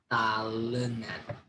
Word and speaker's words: talenan: Yeah, talenan. Yeah, talenan in English, there are two words, cutting board. Cutting board. But in bahasa Indonesia, we translate into one word, talenan. There are 3 syllables, talenan.